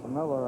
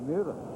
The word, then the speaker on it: Mueller: I don't know how he gets Miller out of the way he spells his name. Gray Mueller spells it the same way and pronounces it Mueller.